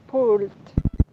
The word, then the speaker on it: pulled: Pulled. Pulled. Listo, recuerden que la E no suena, o sea, si usted